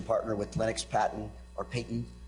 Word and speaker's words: Paton: To my left is Metta MacMillan-Hughes, who's a litigation partner with Lennox, Paton, or Paton, pronounced properly, LXP, as some of us call it, in the Bahamas.